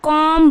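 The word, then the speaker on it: comb: सी ओ एम बी कॉम क्या पढ़ेंगे कॉम पढ़ेंगे बट यहां पे क्या है सी ओ एम बी जो है वो साइलेंट हो जाएगा तो क्या हो जाएगा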